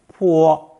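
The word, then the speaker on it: 坡: a slope or Hillside pronounced first tone poor poor my Chinese dictionary explains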